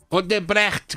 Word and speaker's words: Odebrecht: Odebrecht. Odebrecht. Gostou, Felipe? A questão é, a Odebrecht... Essa pronúncia é certa?